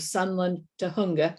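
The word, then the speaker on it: Sunland-Tujunga: 2003 she served as the poet laureate of sunland to hunga and once again i guessed at that pronunciation you got it right aha okay there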